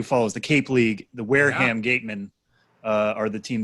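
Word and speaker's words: Wareham: Just let me uh you pronounce that town Wearham. Yeah, Wearham.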